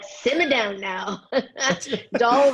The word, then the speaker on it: Dahl: Dahl rhymes with shawl.